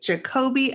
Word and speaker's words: Jacobie: showcase their craft please welcome our guest today jacoby and joshua did i pronounce that correctly yes yes you did i'm